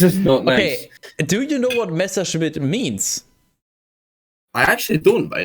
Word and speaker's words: Messerschmitt: Messerschmitt.